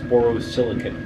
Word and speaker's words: borosilicate: a silicate glass and I apologize to people that let me know that I've been pronouncing that wrong all along I was pronouncing in for o oscillate glass which is incorrect it's borosilicate glass and like I said